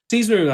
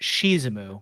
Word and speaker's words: Shizumu: slash explanation um so caesar i am i keep miss pronouncing his name uh i'm so sorry i'm actually superior but it's really pronounced shizumu i know then again